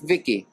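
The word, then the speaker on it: Vici: oh my voice input child identical v-i-c-i I pronounce it Vicky Vicky that's cute come in here Vicky say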